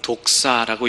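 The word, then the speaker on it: δόξα: 이 43절에 등장하고 있는 영광이라는 말은 헬라어 단어로 독사라고 읽습니다. 우리말에도 독사가 있는데 전혀 다른 뜻이죠.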